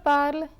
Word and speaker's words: parle: In je parle, il parle, elle parle, the words end with an E, but this letter is silent. It is the letter L that precedes it which is pronounced. So in this case, you only hear the L sound at the end of je parle, il parle and elle parle.